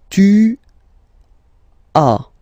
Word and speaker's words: tu as: Second one, tu as, okay. As usual in French, final S is not pronounced.